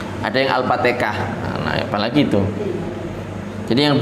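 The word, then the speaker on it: الفاتحة: Jadi Al-Fatihah ini harus hati-hati. Jadi yang benar itu Al-Fatihah. Sebagian orang Al-Fatihah, ada yang Al-Fatihah jadi kho. Jadi ada yang haknya ya dipanjangkan Al-Fatihah. Jadi enggak, tapi Al-Fatihah itu yang benar.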